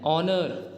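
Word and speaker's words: honour: present ठीक है और ऐसे वर्ड्स जो कि शुरुआत होते हैं जिनकी शुरुआत होती है एच से लेकिन उनमें एच साइलेंट होता है जैसे कि एन आर एन ऑनर एन एयर an honest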